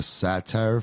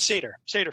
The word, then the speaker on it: satyr: So right after that, they're fleeing to this place called the Satire Forest. How do you say the Satyr Forest? Satyr Forest.